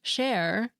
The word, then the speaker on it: chair: more Sinister that's because in French chair spelled c h a i r but pronounced share doesn't refer to something